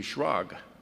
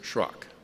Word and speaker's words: Schrock: She thought that should be Shrog. They must have mispronounced it, but it was Schrock.